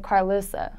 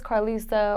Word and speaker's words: Carlisa: time especially in Atlanta they always say karleusa and I'm like no it was Carl Issa or there say I